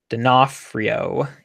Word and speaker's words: D'Onofrio: Oh, Anthony fixed my pronunciation. Thank you very much. D'Onofrio.